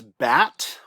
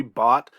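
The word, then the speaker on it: בת: So first word, this word is bat or bot. Hebrew pronunciation would be bot.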